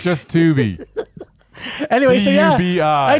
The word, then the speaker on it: Tubi: Yeah, we ended up getting off Tubi or Tubby, or I'm assuming it's Tubi. Tubi. Stop mispronouncing stuff when people were trying to direct people to it. Tubi. Well, Tubby would be with two B's.